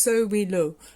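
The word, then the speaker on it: Sowilo: Okay, so and it's pronounced So We Lo.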